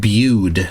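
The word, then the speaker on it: Bude: there you go ah the Cornish town of boo is pronounced bued says the Dr fle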